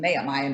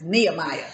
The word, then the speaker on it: Nehemiah: name comes from and i need to say it right i keep saying ma'am i am it's nehemiah get it right okay so um i